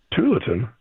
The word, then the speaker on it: Tualatin: Tualatin?